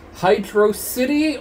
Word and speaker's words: Hydrocity: So, next time, we will continue on with Hydro City or Hydrocity, depending on how you pronounce it. I personally prefer Hydro City because Hydrocity doesn't sound like a word.